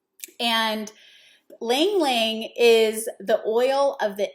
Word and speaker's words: Ylang Ylang: me y l a n g and it's pronounced lang ling and lang ling is the oil of the inner child lang